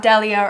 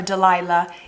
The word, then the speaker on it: Delia: her name is delia you pronounce it as so not delia or delilah delia and then we call